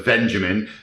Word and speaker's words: Benjamin: I think that kind of answers, hopefully I'm pronouncing your name right, Benjamin, with a V, not with a B, so Benjamin.